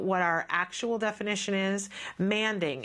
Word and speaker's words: manding: the show and that you'll hear experts say it's manding and the first time that I heard somebody say this I was 100% sure that they were saying it wrong that it was some